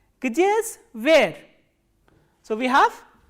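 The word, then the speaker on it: где: And the third interrogative word is g, d, ye, and please remember ye is a soft vowel and it comes after a soft consonant. So, how will you pronounce this? Gdje. Gdje is where.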